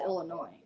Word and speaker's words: Illinois: you will get corrected i'll i'll correct someone if they add an s to illinois well all right and